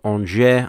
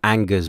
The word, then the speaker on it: Angers: to France to play Angers. I think that's how you say it. A mate of mine calls them Angers, but I'm pretty sure that's not how you say it.